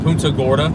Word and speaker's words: Punta Gorda: Punta Gorda.